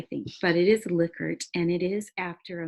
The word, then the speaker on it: Likert: a Likert scale looks like it should be pronounced Likert I think but it is a Likert and it is after a man who developed